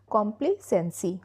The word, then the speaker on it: complacency: तो इस तरह से स्टैच्यूटरी प्रोनाउंस करेंगे। Next one इज कॉम्प्लेसेंसी।